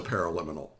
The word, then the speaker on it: paraliminal: of you are wondering is what is a pair of liminal well first of all let me spell it for you because it's kind of a